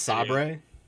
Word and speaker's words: Saber: Uh Kyle, it's pronounced Sabre.